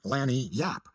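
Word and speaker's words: lagniappe: limber expressive handy word lanap they pronounce it Lanny Yap it is Spanish so they said we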